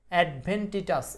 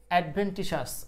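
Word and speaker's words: adventitious: এডভেন্টিটাস এইটার উচ্চারণ হল এডভেন্টিসাস।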